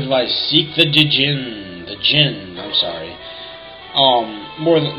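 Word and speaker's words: Djinn: this game I was not educated enough to know how to say the word Jin so I started putting an i between the D and the J and calling them D Jin so that's that's probably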